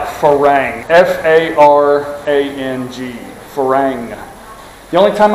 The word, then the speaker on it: farang: Phalang is, first off, the only time I've ever, okay, it's spelled like farang, F-A-R-A-N-G, farang.